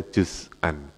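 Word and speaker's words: جزءا: Jadi di antara kalimat yang harus dibaca fathah, itu makanya bacanya juz'an.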